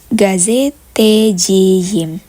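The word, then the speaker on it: gazeteciyim: jurnalis, maka sekali lagi karena huruf akhiran dari kata gazeteci adalah huruf I, yaitu huruf vokal, maka dia memakai Y. Memerlukan huruf Y sebelum im. Sehingga bunyinya menjadi gazetejiyim. Gitu teman-teman, karena sekali lagi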